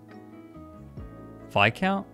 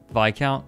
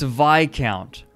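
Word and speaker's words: viscount: the final version wait phi count what's pronounced vi count what did i say what did i say oh it's vi count oh small brain small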